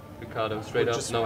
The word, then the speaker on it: Ricciardo: So, grew up in Australia, so I was like, well, you'd say it the English way, Australian way, so Ricciardo. Ricciardo, straight up, no accent, no get bullshit.